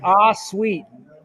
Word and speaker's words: Ahsuite: So before wasting any more time, I'll welcome Kevin Free from Ahsuite. Ahsuite, right? How you pronounce it, Kevin? Ahsuite.